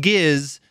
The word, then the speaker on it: Gizz: to people about King giz and then it's not until after I've hit the send but message button that I'm like you know for people who don't know that this is pronounced giz this could be a